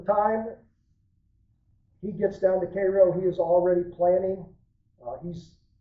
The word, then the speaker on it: Cairo: Grant down in Cairo, and we'll use the local pronunciation on Cairo.